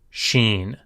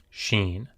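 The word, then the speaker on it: שׁ: When the dot is on the right, it is pronounced SH, sh, sheen, as in shoe or shh, sheen.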